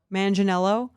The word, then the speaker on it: Manganiello: Like I remember right before the Sofia Vergara, Joe, how do you pronounce it? Manganiello.